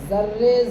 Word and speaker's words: ذرے: تو نظر یا رب، ذرے ذرے سے آشکارا ہے، ٹھیک ہے، ذرے ذرے زا کا تلفظ، آشکارا بڑی شین، ذرے